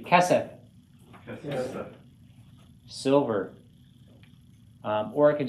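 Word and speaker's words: כֶּסֶף: Accent on the first syllable. Repeat after me. Kesef.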